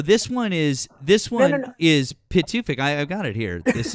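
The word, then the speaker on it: Pituffik: Well, no, it's and, Bitterfink. well, no, Try it. and this is Pitufik.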